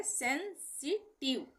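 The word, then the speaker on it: sensitive: आई वी ई का उच्चारण जो है आईव के बजाय अक्सर इव होता है इसको हम आईव नहीं पढ़ेंगे आईवी ई है तो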